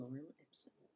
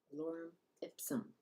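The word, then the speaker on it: lorem ipsum: the beautiful land of lauram ipom lauram ipsum there we go I said it wrong the first time what was the last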